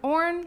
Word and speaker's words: Orn: Orn like corn. I pronounced it correctly last week.